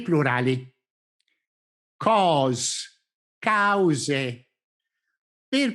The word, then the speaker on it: cause: Nella parola cause ogni vocale ha un suono ben distinto che deve essere sentito chiaramente e distintamente.